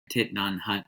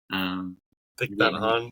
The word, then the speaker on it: Thich Nhat Hanh: I don't remember the name of it, but it was by Thich Nhat Hanh. I'm probably mispronouncing that too. Thich Nhat Hanh, maybe? Thich Nhat Hanh, yeah, a Vietnamese Buddhist monk and author, and